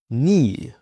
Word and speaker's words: knee: Now, the silent k before an n. For example, know, knife, knee or knock.